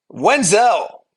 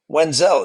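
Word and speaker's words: Davis Wendzel: the Rangers for cash wizel wiel is how you say it was designated for assignment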